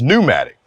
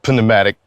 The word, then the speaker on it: pneumatic: 10 inch pneumatic tires now i know it's pronounced pneumatic but i got a one-man boycott against silly spellings so i'm gonna say it the way it was spelled panamatic put it intimidating just like i didn't go